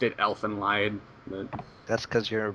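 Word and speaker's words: Elfen Lied: Either way, um one of my all-time favorite animeus, as you guys should know, is uh Elf and Lead. Elen Lee is it's based on Germanic roots, so it's lied.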